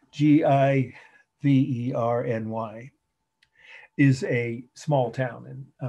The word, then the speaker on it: Giverny: it in your notes g vernee or again if you're from indiana gavirni g-i-v-e-r-n-y is a small town